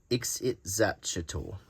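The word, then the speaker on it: Ixitxachitl: It's pronounced Ixit-Zatchel.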